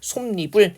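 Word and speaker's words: 솜잎: 그래서 발음할 때 솜립을 이렇게 니은이 첨가가 되는 거고요.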